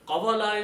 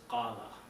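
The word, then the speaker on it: قال: So qawala is not the right word, but qawala comes out because of the rules of the grammar. But the right word is qala.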